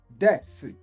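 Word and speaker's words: です: So they will say this des but it is spelled D E S U.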